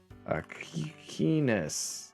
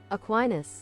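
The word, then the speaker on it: Aquinas: Stanley Cup Aqua aquinus wait pronunciation Latin oh it is a wait practice I don't want to practice no I want to aquinus aquinus wow that's embarrassing guys I got that so wrong I got that so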